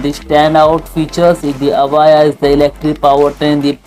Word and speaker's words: Evija: In this video, I'm going to share all upcoming cars to Lotus Avaya, which is pronounced Avaya, is unique and powerful car.